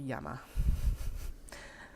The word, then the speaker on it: llama: want to phrase that there actually a y sound right um um poo Etc so I was like why do we pronounce llama llama then it shouldn't